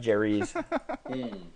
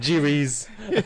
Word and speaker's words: Jerez: Jerez. Jerez. Oh God. Jerez.